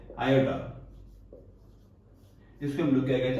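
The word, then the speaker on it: iota: से डिनोट करते हैं एंड इसको हम लोग प्रोनाउंस करते हैं आयोटा।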